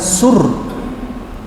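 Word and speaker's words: צור: Pronunciation-nya Thur. Kalau transliteration-nya Sur. Bunyinya gimana? Kita lihat. Saya klik bagaimana pelafalan orang-orang Yahudi melafalkan Thur. Strong's H 6697. Sur. Sur. Thur katanya.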